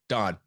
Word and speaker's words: Dan: But first, Don, go ahead and introduce yourself. Who is Don? So my name is Don. It's spelled Dan, pronounced Don. It's a Hebrew name.